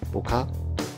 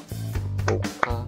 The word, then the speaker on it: ぶっか: 发音的时候记得要停一拍，不咔是拍两下，不咔是拍三下手。